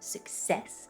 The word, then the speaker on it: success: Now, because the word success, we emphasize that second syllable. The first syllable, it should be weak. I know that doesn't sound very successful. So instead of success, we just want success.